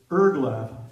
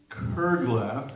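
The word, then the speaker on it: curglaff: On the way that it's printed on the newsletter is Erglaf. It is Kerglaf, as you pronounce properly.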